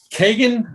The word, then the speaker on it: Kagen: book please say it because i forgot the pronunciation of it kagan the damned there it is begging the damned